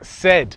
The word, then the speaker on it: Cedd: Enter St Cedd, the C-E-D-D that is spelt.